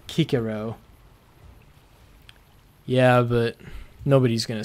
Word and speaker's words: Cicero: pronounced as a k so cicero would sound like kikiro yeah but nobody's gonna